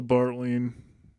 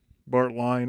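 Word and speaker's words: Bartlein: I'll edit this if it's wrong, but I believe it's a Bartlean. Bartleian Bart line as some people like to mispronounce it.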